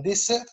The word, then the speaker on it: dessert: لما يكون عندي دوز اس بنطق اس، لما يكون عندي اس واحد ما بين دو فويل بنطق زد. ديزير يعني صحراء، لما انت تقولي ديزير يعني صحراء، لكن ديسير ده هو اللي مقصود به ديسير اللي هو الحلو يعني.